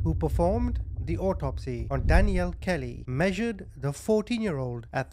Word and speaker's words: Danieal: Her name is spelled similar to the name Daniel, but it is pronounced Danielle.